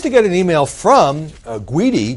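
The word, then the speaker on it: Gudy: get an email from guidy gu d y not mispronouncing that New York City headline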